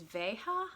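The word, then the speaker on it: Veja: the first one is Vega I think that is how you say it v ej a this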